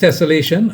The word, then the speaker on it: tessellation: A tessellation pronounced tessellation as in desolation is a pattern of